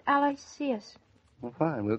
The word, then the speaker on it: Aloysius: You know, I thought it should be pronounced Aloysius.